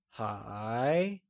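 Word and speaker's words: 还: let's start with still still translates to high and is pronounced using a mid rising tone or the second tone can you try and say hi it is said with a mid rising tone like hi good job let's see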